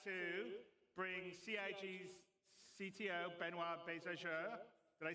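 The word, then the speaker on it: Benoit: waffling on I'd like to bring C's CTO benoir did I say it right benir yeah okay good I'm always B with French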